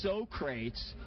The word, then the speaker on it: Socrates: And yes, ladies and gentlemen, it is Socrates. So stop correcting me. I got the man on the mic today and said, I want to hear how you pronounce it. And he's like, yo man, it's Socrates.